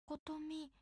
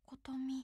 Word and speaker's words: Kotomi: KOTOMI, hiragana 3つ de, KOTOMI. 3 syllables, KOTOMI.